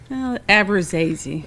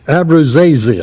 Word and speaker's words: Abruzzese: Did I pronounce that right? Abruzzese. Abruzzese.